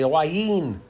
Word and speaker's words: Hua Hin: It looks like Hua Hin, but the locals, they say Hua Hin. So I'm trying to pronounce it like them. Oh, well, we just try our best.